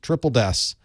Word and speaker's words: Triple DES: list is triple des it's how it's actually pronounced triple des it is des spun up three times three